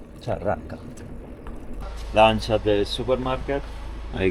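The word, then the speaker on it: Xarraca: I think the X is pronounced Charraca.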